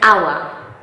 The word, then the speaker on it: hour: Tak jak w przykładzie słowa an hour, czyli godzina, która w pisowni zaczyna się na spółgłoskę, a w wymowie na samogłoskę.